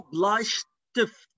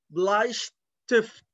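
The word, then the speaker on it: Bleistift: القلم الرصاص اسمه بلايشتيفت، بلايشتيفت زي ما أنتوا شايفين الإس تي بتتنطق شت شت زي شتول اللي هو الكرسي. هنا عندنا كمان قلم رصاص بلايشتيفت، بلايشتيفت.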